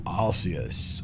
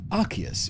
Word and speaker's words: Arceus: I am that which humans call Arceus, or Arceus, if you like. I'm going to say Arceus. That's how the Japanese pronounce it.